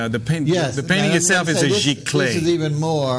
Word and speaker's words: giclée: The painting itself is a giclée. This is even more. Right. So let's explain what a giclée is. G-I-C-L-E-E. G-I-C with an accent. L-E-E, two E's, with an accent on the first E.